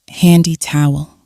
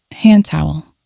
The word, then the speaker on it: hand towel: careful of the pronunciation we don't usually say handy towel we link it and say hand towel hand towel down there we have